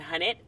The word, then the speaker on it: Hunnit: So I'm going to say Hunnit asterisk because that's how you pronounce it.